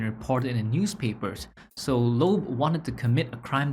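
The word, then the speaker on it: Loeb: from now on it's so much easier to pronounce lob lobe yeah lobe okay this would not be the first time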